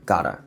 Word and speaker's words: gotta: Try to produce your sound from your throat, and since T sound becomes R sound when followed by vowel, it becomes sound like a gotta.